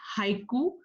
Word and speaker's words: haiku: The word haiku, pronounced haiku, is derived from the Japanese word hoku, meaning starting verse.